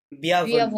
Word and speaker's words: bienvenue: bienvenue, বিয়াভনু, right, bienvenue, বিয়াভনু।